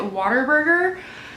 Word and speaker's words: Whataburger: Number 1, literally everyone here is obsessed with Whataburger and pronounces it weird. People pronounce it Waterburger.